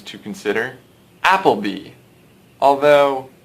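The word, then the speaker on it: Appleby: character names to consider applebe although let's go ahead and pronounce this guy's name Apple by he is as American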